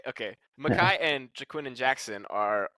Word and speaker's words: Micah: uh is it Micah or Makai Bernard it's pronounced Makai Makai okay Makai and jaquin and Jackson are also a great